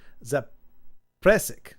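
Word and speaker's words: Zaprešić: Oh, the town I live in is near the town I was born in, but it's a tongue twister pronounced Zapresik.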